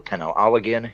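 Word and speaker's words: penanggalan: spreads uh for example the pen aligan is how it's pronounced uh female vampire she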